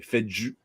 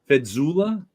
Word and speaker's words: Fejzula: Fejzula. Fedzula? Fees. What was that? You have to pronounce the J as a Y.